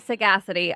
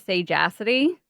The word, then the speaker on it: sagacity: Sagacity. I always want to pronounce it sage acity because that's how I was about to pronounce it.